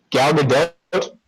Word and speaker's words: Gal Gadot: Gal Gadot. Yes, you do pronounce the T, apparently. And Jimmy Kimmel, she corrected kind of everyone, and he was saying it with the T.